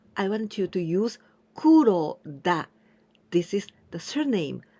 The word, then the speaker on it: 黒: my friend well I want you to use Kuro da this is the surname I want to do right in kanji Kuro this is Kuro the color black Kuro black da this is